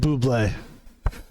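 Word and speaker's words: Bubly: My 2 favorite sparkling waters are LaCroix and Buble. I think it's called Buble. It's spelled like bubbly, but it's called like Buble, and it's fucking amazing.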